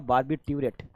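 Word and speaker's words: barbiturate: इसका प्रोनाउंसिएशन होगा बार्बिट्यूरेट।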